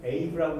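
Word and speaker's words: Aave: 그래서 플래시론 제일 많이 사용하는 데가 저는 아베라고 있습니다. 여러분들은 에이브라고 읽으면 에이브라고 읽으시고요. 여러분들이 에이브라고 읽으시면 저는 아베라고 이해를 하겠습니다. 제가 아베라고 말할 때는 에이브라고 이해하시면 됩니다.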